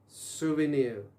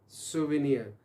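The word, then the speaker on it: souvenir: तो वर्ड था हमारे पास क्या, सोवेनियर। दोबारा सुनिए, प्रोनाउंस कीजिए, सोवेनियर, जो आपको याद दहानी कराता है, वो मैन तो हमने बात की थी।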